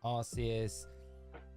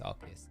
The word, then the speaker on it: Arceus: They're like, well, you know, like, look at the ARC phone. Like, it would be the, if you're pronouncing it like that, it would be the arse phone.